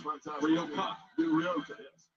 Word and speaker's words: Rioja: Ryoka, yes. How do you pronounce it? Rioja.